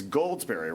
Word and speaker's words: Goldsberry: It's Goldsberry, right?